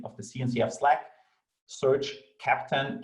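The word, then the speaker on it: Keptn: the cncf slack search captain ke ptn we pronouncing captain like the captain of a ship that is written like captain so join us in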